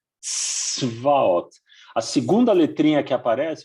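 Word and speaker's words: צבאות: Esses dois pontinhos na vertical quer dizer que é para a gente pronunciar a consoante sem nenhuma vogal. Por isso que essa palavra ela começa assim, tzvaot, tzvaot. Tá bem? Não é para falar tsevaot, não é para colocar um i ou um o, não.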